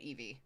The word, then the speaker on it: Eevee: I would say it Eevee. You could say it ei to it. Otherwise though, it's a long e traditionally with that.